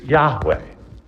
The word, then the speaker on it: Yahweh: still, but we're pretty sure that the correct pronunciation is Yahweh.